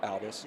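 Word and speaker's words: Albies: How would you pronounce that? Albus. Yeah, Albus. Yeah, Aussie Albus.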